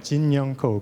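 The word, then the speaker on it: Ko Jin-young: This person's name I can pronounce exactly 왜냐하면 한국 사람이기 때문에. because she's Korean. 고진영이라고 하더라고요. Jin-young Ko, Go Jin-young.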